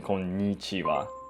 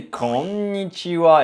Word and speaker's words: こんにちは: right pronunciation though, because you never say konnichiwa in real life in Japan, right? You would say konnichiwa, right?